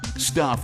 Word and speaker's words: Stuph: Stuff is spelled S-T-U-P-H.